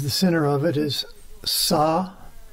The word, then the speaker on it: Sa Ta Na Ma: S-sa-ti-ta-na, N as in Nancy, na, and ma as in mama. Sa-ta-na-ma. That's four syllables, but it's actually five sounds in Nad Yoga, which is the yoga of sound. S-t-n-ma. The ah goes through all the syllables.